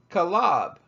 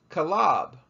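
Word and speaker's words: חָלָב: their Nakul vowel marks the word milk with the new code mark that we have in blue is pronounced calab calab where the word meaning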